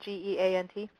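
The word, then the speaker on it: GÉANT: Scott, can you share any status or plans for collaboration on security incident response with international partners like GEANT? Is that how you pronounce that? G-E-A-N-T?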